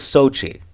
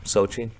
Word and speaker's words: Xochitl: But anyway, it made me think, like, it made me have a high school flashback because her name was Sochi. It's spelled Xochitl. Sochi.